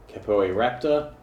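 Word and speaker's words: Capoeiraptor: support for this one now kapo'i raptor that's how it's pronounced attackers of this attack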